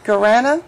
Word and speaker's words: guarana: and Teresa, can you help me with the pronounce of that? Guarana? Guarana.